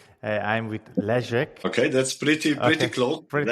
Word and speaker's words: Leszek: I'm with Leszek.